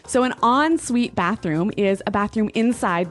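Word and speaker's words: en suite: s UI t e so even though it's n we pronounce it like an o n yep on Suite so an on Suite bathroom is a bathroom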